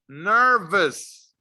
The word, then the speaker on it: nervous: cold tired sick angry nervous remember to pronounce the letter v you have to put your teeth to your lips nervous scared remember